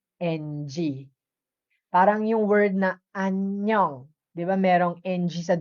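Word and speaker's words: 안녕: Like anyong, right?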